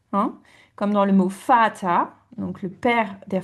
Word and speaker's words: Vater: comme dans le mot Vater, donc le père der Vater, et ça commence par un V quand on l'écrit, mais on le prononce F.